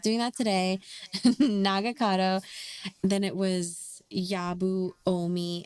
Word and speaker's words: Nagakado: which is Hiromatsu, then his son, who is Nagakado, which I was saying his name wrong the entire time last during our Well, last I episode.